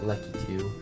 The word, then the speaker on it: Lakitu: I'm one of the people who pronounces it Lakitu. Some people pronounce it Lekitu. I pronounce it Lakitu, but it's a nuisance.